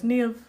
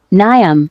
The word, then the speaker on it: Niamh: And I said, oh, no, it's Niamh, it's pronounced like this, it's the Irish language, like I'm used to this.